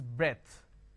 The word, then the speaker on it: breadth: h e is breathed b r e a t h is breadth breathe is a verb